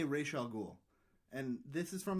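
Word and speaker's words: Ra's al Ghul: UCLA language department and that it would be Raa ghoul it's Raa ghoul so they say Raa ghoul and this is from like an old comic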